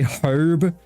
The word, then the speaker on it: herb: armor honor you know we say herb herb yeah do you say do you say no herb okay because i've heard some i've even heard some brits say herb and i'm like brother h it's not a silence no you didn't hawk